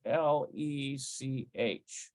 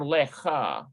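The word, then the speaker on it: לך: So it's going to be something like L-E-C-H, lech, instead of lecha.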